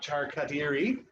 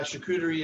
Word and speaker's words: charcuterie: uh to do and how you pronounce that word is uh not char khadiri or chakutarai it's hugery so we've got some some more guests uh yeah so classically uh charcuterie is made from whole